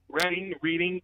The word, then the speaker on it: Reading: That's just how the word is pronounced. Yes. Reading, things like that.